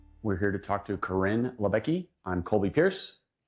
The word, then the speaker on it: Coryn: But um yeah, I know my my name is spelled a little bit uniquely and so there's a lot of pronunciations. I'm cool with whatever, but typically it's Karen. So Karin for the win.